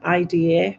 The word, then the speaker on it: Ida: But my mum's name was IDA, which is Ida, um, and so I